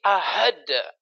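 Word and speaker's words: أحد: Oh, bukan ahad tapi ahad, ahad.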